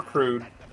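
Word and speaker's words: Gru: to be expendable, you should have worked for Crude. Or Crude. I forgot how you say his name, but the guy from Despicable Me 1 and 2. Groot. Yeah, there we go. It's just Groot.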